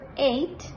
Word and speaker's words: eight: campo en el número 8 en el hamburgo eight la g y la h son mudas del arte style simplemente se pronuncia en el caso del 9 que van